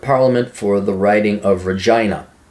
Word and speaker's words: Regina: Andrew James Scheer is a Canadian politician serving as a member of parliament for the riding of Regina, rhymes with fun, since 2004, and as leader of the Conservative Party and leader of the official opposition since 2000.